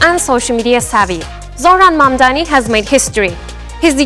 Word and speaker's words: Mamdani: The name is Mamdani. M-A-M-D-A-N-I. You should learn how to say it.